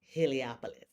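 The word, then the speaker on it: Heliopolis: Helopoulos. Okay, it it sounds hard, but if you spell it out, it's it's easy.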